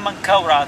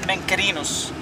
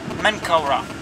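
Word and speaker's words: Menkaure: Khafra, the third one Mankaura. This is the right Egyptian names. Some people say the Greek name, which is Cheops, Kefren, Menkerinos. But for the ancient and right Egyptian pronunciation, Khufu, Khafra, Mankaura.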